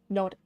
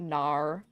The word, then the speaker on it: no: Yeah, the thing that people get wrong about the Australian no is that it's an H sound at the end, like N-O-H, not N-A-U-R. We don't have like the R sound. It's not nar.